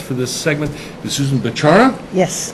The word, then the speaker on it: Bechara: My guest for this segment is Susan Bechara.